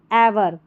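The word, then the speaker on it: ever: एवर more successful then एवर इसको इवर नहीं पढ़ना है ई को ए पढ़ना है तो एवर होगा रवि लर्न लर्नड ठीक है।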